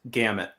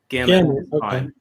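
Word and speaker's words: Gammaut: And don't nobody nobody worry about trying to pronounce it with a European accent. Gamut. Gamut.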